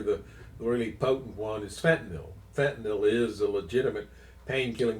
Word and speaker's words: fentanyl: Uh, it's kind of funny because it's F E N T A N Y L. That's how it's spelled, but you'll hear people pronounced it if it as if it ends in O.